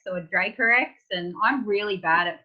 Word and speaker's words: Dracorex: well yeah direct Reiko like Draco Malfoy or X like t-rex great Harry alright just